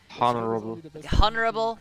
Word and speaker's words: honorable: Honorable. Thank you. I'm a dumbass. Honorable. I know this word as well. I'm a dumbass. One honorable mention to make No, about. honorable. You don't pronounce the H.